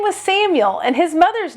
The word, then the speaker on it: Samuel: It's a Hebrew name, so it should really be pronounced Samuel.